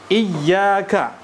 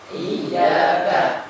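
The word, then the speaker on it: إياك: atau memberikan intonasi ya ketika mengucapkan kalimatnya yang ada syidahnya tib ya kita ulang iyaka iyaka iyaka iyaka nah jadi masuk saja huruf ya kemudian ya diucapkan lagi kalimat ynya ya kemudian Lantas dipanjangkan dan juga huruf k iyaka dan ingat ya jangan malah memasukkan huruf i itu ke huruf i yang lain Jadi iyaka iyaka ini pun salah ya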